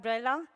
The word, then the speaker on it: Brella: Now we have Brella, who would introduce us. Okay. Yes? Yes. My name is pronounced Breila in Portuguese, so it's really difficult also for Brazilians to say my name, so it's okay.